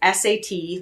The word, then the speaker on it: Sat: It's S-A-T, like sat, but it's pronounced Sat.